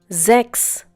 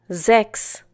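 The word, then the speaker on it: sechs: followed by a vowel, it is pronounced as if it were the English Z.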